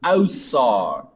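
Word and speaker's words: Ausar: So it's more like Osar.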